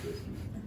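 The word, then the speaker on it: Rieske: So it's actually called risky. Yeah. Sorry. So it's spelled like this.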